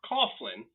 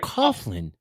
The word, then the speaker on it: Coughlin: caen I think they're it's Coughlin like Coughlin like a coffin like cough drops like you die in except there's an L in there right so it's